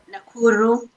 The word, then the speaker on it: Nakuru: So how do you pronounce the Nakuru? Nakuru, Kenya.